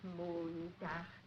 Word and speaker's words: Montag: Sonntag, Montag, Dienstag, Mittwoch, That is good. But pronounce the words broader, so Sonntag, Montag, Dienstag, yes?